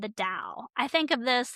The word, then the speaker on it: Tao: The Dao or the Tao, it's spelled T AO, but it's pronounced D AO, but it's spelled either way.